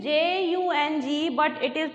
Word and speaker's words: Jung: This is J-U-N-G, but it is pronounced as Jung, not Jung. This is Jung.